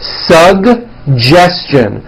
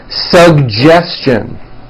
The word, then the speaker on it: suggestion: This one's also a bit tricky. Suggestion. Suggestion.